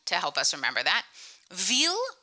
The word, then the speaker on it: Ville: Ville rhymes with eel, the long wiggly fish.